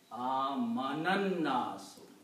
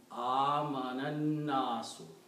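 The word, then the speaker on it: آمَنَ النَّاسُ: And when you combine the previous word amana, then you don't pronounce this alif, you pronounce amanannasu. Because alif is not pronounced, so what happens to alif?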